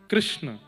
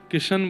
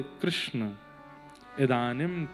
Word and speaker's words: कृष्ण: नाम कृष्ण रखा गया कृष्ण इस शब्द का उच्चारण कई लोग शुद्ध नहीं करते क्योंकि शुद्ध कर लेंगे तो फिर भगवत प्राप्ति हो जाएगी इसलिए सब लोग इस नाम को कोई किशन बोलता है कोई कृष्ण बोलता है कोई कुछ बोलता है